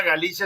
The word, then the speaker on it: Galicia: Y es curioso porque mucha gente cree que esa Galicia es la Galicia de España y no tiene nada que ver. Por eso yo lo pronuncio como Galicia, enfatizo el TZ para que se sepa.